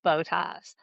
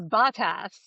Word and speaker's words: Bottas: I love Checo and I love Bottas. Although I hate that they say his name Bottas, because that just sounds wrong. Yeah. No. But like the Sky coverage says Bottas.